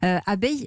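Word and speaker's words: Abeye: Abeille, on dit abeille, mais ça s'écrit comme un œil, E-Y-E.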